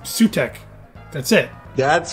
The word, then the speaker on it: Sutekh: How do you say this name anyway? Sutekh. I am Sutekh the Destroyer. Oh, it's just Sutekh.